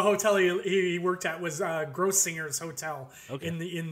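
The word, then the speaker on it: Grossinger's: organize a communist party uh so the correct pronunciation of the hotel he worked at was gross singers hotel okay in the in the Catskills and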